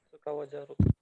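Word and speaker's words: 使わざる: Bacanya, cara bacanya adalah Sukawa zaru.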